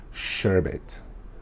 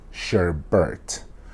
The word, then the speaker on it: sherbet: dessert it is called sherbet sherbet not sure Bert there's no R Sherbert hi once I'm